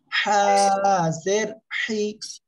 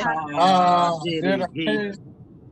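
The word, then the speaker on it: حِ: বলবো না, কি বলবো, গলাটা চেপে মুখ দিয়ে একটু বাতাস বের করে আমরা উচ্চারণ করব, হাজের হি, সবাই বলে হাজের হি।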